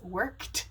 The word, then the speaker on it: worked: It's worked because it ends in a K, which is voiceless, so pronounce the ed as a T.